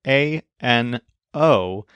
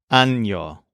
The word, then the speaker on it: año: It's basically A-N-O, but there's a little squiggly mark over the N, which forms the letter that we call ñe. So instead of being pronounced ano, it's pronounced año.